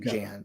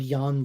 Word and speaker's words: Jan: Looks like Jan, but I think it's pronounced Jan.